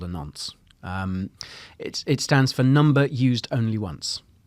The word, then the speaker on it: nonce: So nunts. Turns out we were pronouncing it wrong. It's a nuance. No, nunts.